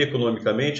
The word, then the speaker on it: economicamente: Até porque essa palavra aqui, economicamente, é uma palavra derivada. A sílaba tônica, que era no, era uma palavra proparoxítona, a sílaba tônica passa a ser men.